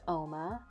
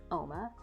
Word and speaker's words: Uoma: beautiful in Nigerian and it's pronounced OMA it looks like uma but it's OMA it was started by